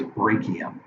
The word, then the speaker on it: brachium: And remember, the arm proper is the upper arm, or the brachium. Now, you'll also hear that pronounced by some people as brachium. Brachium, brachium. Either way, it doesn't matter.